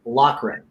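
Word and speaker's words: Loughran: he goes for Lucky's last name is pronounced locren ah well thank you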